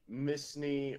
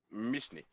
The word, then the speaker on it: Mishni: Mishni, Misni, or Missini? Mishni. Mishni. Okay, Yeah, so but- I've been saying it right.